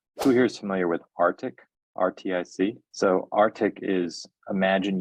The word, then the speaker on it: RTIC: Arctic is spelled RTIC.